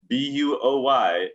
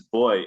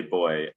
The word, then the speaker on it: buoy: She can say with absolute authority that they do not pronounce B-U-O-Y as boy in the United States. And I have to say, Alice is right. I got it reversed. The British say boy, Americans say buoy.